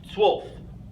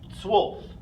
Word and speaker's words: zwölf: Zwölf. Zwölf is our word for 12. Again, one of our letters with the umlauts, this time in O, okay, makes the U sound, zwölf.